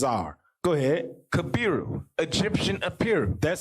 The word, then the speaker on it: Apiru: Kabiru, Egyptian Apiru.